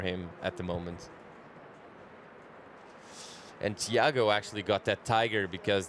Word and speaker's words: Thiago: And Thiago actually got that tiger because the beach announcer in Indonesia back in 2008 couldn't say his name, and it sounded like tiger.